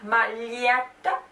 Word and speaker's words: maglietta: Maglietta, maglietta, to pronounce the make the tip of the tongue touch the palate, touch against the palate, drag it forward. Maglietta, maglietta, maglietta, maglietta.